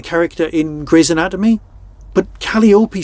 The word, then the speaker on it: Calliope: So how do you pronounce Calliope? Calliope, Calliope.